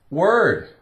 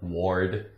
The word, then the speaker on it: word: out terrible thought spurt o r r word wouldn't you think that was or Ward no no no no that' be a